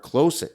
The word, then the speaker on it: Klose: Now, Drakkar Klose, and some people say Klose, I just call him Close.